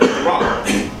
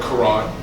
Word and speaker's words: Quran: say the word Quran, we say the word Quran with a K, right? But it should be spelled with a Q, and the Q should sound like, right? It should be coming from the back of your throat. It should be on. That's how it should sound, on, right?